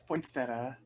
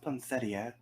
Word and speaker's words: poinsettia: uh what's that yeah it's poinsettia uh wait i thought it was pronounced poncetia um well you can